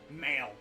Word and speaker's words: Mael: You can literally just pronounce it Male Strongheart. Mael Strongheart. That's his name gimmick. Male Strongheart.